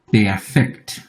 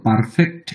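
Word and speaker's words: Perfekt: এখানে এমন করে বলা হয় ইনফিনিটিভ আরেকটা হচ্ছে পেফেক্ট ইংরেজির মত পারফেক্ট উচ্চারণ না এটা হচ্ছে পেফেক্ট এখানে সে নাই এখানে কে আছে এখানে এ নাই ইনফিনিটিভ ইংরেজিতে এ দিয়ে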